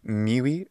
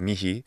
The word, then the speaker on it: mihi: He seemed to say miwi faveas instead of mihi faveas or mi faveas.